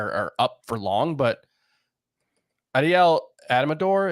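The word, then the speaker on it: Adael Amador: up for long but Adel adamor is that how we pronounce his name I haven't I don't think I've said his name out loud yet I believe it's Adel Amador Adel Amador um he's got seven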